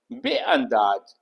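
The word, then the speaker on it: بینداز: बेअंदाज, इसमें अलिफ नहीं लिखा गया है, लेकिन आप जब बोलेंगे तो उसमें अलिफ प्रोनाउंस करेंगे।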